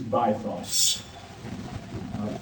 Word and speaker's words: bythos: The triangle's upper point is that red dot, and it is called, traditionally used pronunciation is bythos, which is a Greek word meaning the depth.